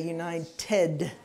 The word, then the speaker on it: united: Yeah, and because it's got the D there, you have to say united. United. United. United. 3 syllables.